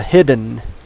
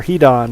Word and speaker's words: Hidon: want to pronounce that I think it's supposed to be pronounced hidden because strago says something about that being at as its name suggests it's hidden and hard to find he said have its